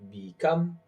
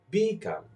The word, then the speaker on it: become: And now try this word become. Do you hear? I am stressing the second syllable become and not become.